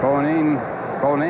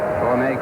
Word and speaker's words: Bonin: But Bonine, I guess the way he wants it pronounced, B-O-N-I-N. Bonine calls it a foul ball.